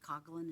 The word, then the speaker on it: Coughlin: Dahlgren, well, his testimony indicated that he considered, I don't know if I'm pronouncing the name right, is it Coughlin? Is that how you say it? Yes, Coughlin.